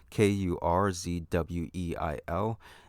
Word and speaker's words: Kurzweil: It's Kurzweil.